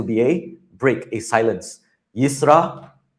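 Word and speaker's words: ישראל: In American accent, I have heard yisra yell and I'm like please don't yell at me. Okay. It's a yra. Israel.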